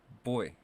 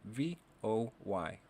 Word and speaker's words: voy: or I am going this is boy it's spelled v-o-y or ve o i griega so the way to say I go is Yo voy repeat after me yo boy yo boy you do not have